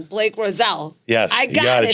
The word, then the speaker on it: Rossell: Blake Rose, I'm going to say his last name wrong. Blake Rossell.